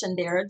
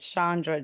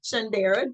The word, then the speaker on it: Shaundara: well my name is shandera I am a I apologize for mispronouncing your name I said Shandra Jon okay I get it all all the time but shandera but a lot of